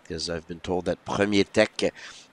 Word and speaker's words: Premier Tech: I've been told that Premier Tech is the proper way to pronounce, as it is a company here from Quebec.